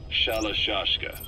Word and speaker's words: Shalashaska: Because somewhere along the line, Shashka got stuck on the end of Sharashka. The guerrillas were using the name amongst themselves. And by the time I got to hearing about it, pronunciation had wound up as Shalashashka.